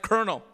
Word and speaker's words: colonel: But how have we, as English-speaking people, become so arrogant about spelling and grammar when we have words like colonel, pronounced K-E-R-N-E-L, but spelled C-O-L-O-N-E-L?